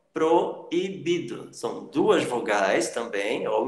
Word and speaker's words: proibido: Proibido. Proibido. São duas vogais também, ou o encontro dessas duas vogais, mas em sílabas diferentes. E você separa também na pronúncia.